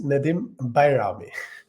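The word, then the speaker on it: Nedim Bajrami: who is Nadim bami yes the name is pronounced Nadim bami oh well I'll never get that yeah it's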